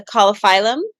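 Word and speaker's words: Caulophyllum: to be doing the coliphylum to prepare her for birth. Oh yeah. Or I think you say colophylum, right? Is that how you say it? Colophylum is what we say, yeah.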